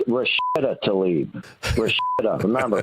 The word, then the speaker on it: Rashida: Rashida. Remember, pronounce it correctly, Eric. Rashida. Rashetta to leave.